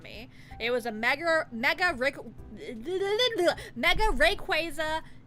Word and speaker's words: Rayquaza: the order, and he had bought the Mega Rayquaza. I keep saying it wrong. Mega Rayquaza EX. November 2nd of last year. Guys, it is July 18th. That was more than 8 months ago. Rayquaza.